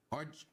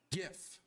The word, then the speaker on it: GIF: It's a hard G like in brain. GIF.